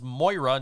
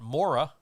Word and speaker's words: Moira: okay i know that this character's name is moira not maura yeah or or you